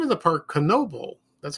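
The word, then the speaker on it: Knoebels: It's the name of the park, Knoebel. That's how you pronounce it.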